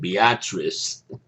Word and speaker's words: Beatrice: from this place that I would pronounce Beatrice but they they pronounce it Beatrice which to me is